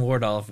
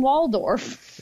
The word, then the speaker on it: Waldorf: have had Statler and wolph as two middle-aged men who just stood around making fun of the babies yeah oh Statler not to correct your pronunciation but Statler and Waldorf isn't that what I